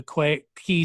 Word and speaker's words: Quay: So there's a link to the Quay sessions. Those should be pronounced Quay.